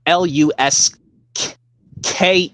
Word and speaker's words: Lusk: L is yeah basically the last name is spelled l u k that's how you say l basically kind of like saying the word luck but you have to say spell it l u s k e kind saying the word loose but to it's Lusk but an e at the after